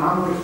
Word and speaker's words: عمرو: البخاري وابو داوود عن عمرو ابن سلمه عمرو بال الواو تكتب قالوا سرق عمرو وا وداوود او عمر عنده واو ماتنطقش وداوود انت تنتق و